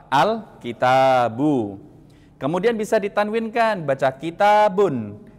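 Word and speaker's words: الكتاب: Dan dibacanya cukup al tidak dibaca alif lam lagi. Tidak dibaca alif lam kitab. Tidak. Tapi dibacanya apa? Alkitabu.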